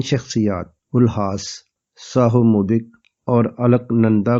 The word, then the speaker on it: Ulhas: کرنے شروع کر دیے۔ میں نے پہلے ان کا نام الہاس بولا تھا، انگلش میں دیکھا تو ان کا نام یو سے شروع ہوتا ہے، سو صحیح تلفظ الہاس ہے۔ اپنے وقت کے خوبصورت